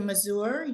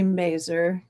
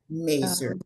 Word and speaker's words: Mazur: can share it easier thank you uh Dr mazour you should have um sharing capabilities am I pronouncing your last name correctly oh I'll answer to anything but it's actually merer merer okay thank you okay help me out how